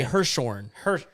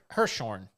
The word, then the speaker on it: Hirschhorn: I say Hirschhorn. Hirschhorn. Yeah, I think it's HIR. So Hirschhorn.